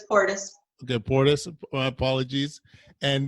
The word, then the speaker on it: Porteous: Porteous. You can say it however you want, but it's Porteous.